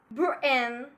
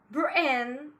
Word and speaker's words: Britain: We use glottal stop often between two vowels or at the end of a word. For example, Britain, Britain, and we have I and I. Both are vowels and we have T between it. We'll pronounce it like Britain, Britain.